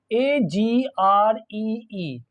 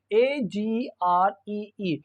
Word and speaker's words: agree: A is pronounced in this word A, and it is very short A. It is like schwa sound.